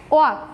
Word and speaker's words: walk: এই শব্দের যে এলটা আমরা প্রোনাউন্স করার সময় এই এলটা আমরা ওমিট রাখি, তাই না?